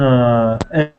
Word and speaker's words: earth: Yeah, and I think when you say earth, you need to say this bird sound like birth. Yeah. Earth. Earth. Don't try not to say earth. Earth is a bit too like chair. This is there's 2 sounds in English. One of them is like chair, and one of them is like bird, and earth is like bird.